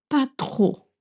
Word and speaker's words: pas trop: Pas trop is used a lot in spoken French to say not much, but really tricky to pronounce. Make sure not to voice the P at the end, right?